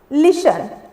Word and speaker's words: listen: 9 number में लिसन, LISTEN, लिसन। लिसन, जिसके में साइलेंट क्या है, टी है। कैसे, इसका जो प्रोनाउंसिएशन हम लोग बोले, क्या बोले, लिसन।